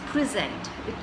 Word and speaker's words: present: is $0.03 you you you're stressing on the second part of it which is sent so free it becomes free sent so present in fact you have